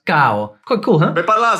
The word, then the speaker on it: caro: For example, the word caro is pronounced cao.